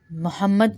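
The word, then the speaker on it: مُحَمَّد: ہے، وعلی آلی محمد۔ محمد کو ہم محمد نہیں پڑھتے، محمد محمد پڑھ دیتے ہیں، یہ بھی غلط ہے۔ وعلی آلی محمد، دال پہ کلکلا کریں گے، دوبارہ دیکھ لیجئے۔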